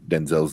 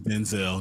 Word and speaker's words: Denzel: It was also like you find out like everyone's pronouncing Denzel's name wrong for all these years. Denzel, it's just like what black people do. We change our names all of a sudden. Like, man, it's Denzel.